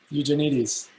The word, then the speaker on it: Eugenides: lap i love jeffrey tanya fumbles with the pronunciation you mean uh eugenides yes yes oh definitely i'm so stupid ah